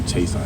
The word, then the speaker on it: Chason: from where I'm from, in my hometown in Houston, we say Chason. That's how my mother taught me how to say my name.